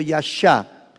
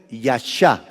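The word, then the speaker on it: ישע: significa eso de yeshua el verbo yasha significa salvar vean la perfección de Dios Otra vez vuelvo a decir en yeshua el verbo yasha que se escribe y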